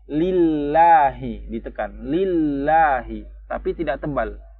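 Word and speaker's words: لِلَّهِ: Biasanya kan kalau ismul jalalah itu dibacanya tebal. Allah. Tebal kan. Allah. Lamnya itu tebal. Tapi karena di sini sebelumnya kasroh, dia dibaca tipis aja. Tapi tetap ditekan sebagaimana lam tasdid yang lain.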